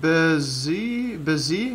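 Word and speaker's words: Bézier: at this from Wikipedia Bezier curve pronounced busy-busy okay I guess I've been pronouncing wrong is a parametric curve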